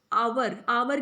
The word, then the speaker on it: hour: And honest and आवर की भी spelling होती है HOUR, बट साउंड जो है वो वॉवल की है. That is वाई we will use article an, नॉट अ. एन आवर बोलते, आवर नहीं बोलते.